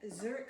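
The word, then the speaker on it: Żurek: So again, Zurek Soup, which is not spelled like the city.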